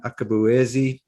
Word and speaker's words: Akabueze: My name is Brett Johnson, and I'm here with my good friend Ben Akabueze. And Ben, I'm always afraid that I've pronounced your name incorrectly because the Nigerians will probably laugh at me.